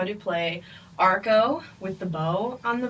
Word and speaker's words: arco: So, arco.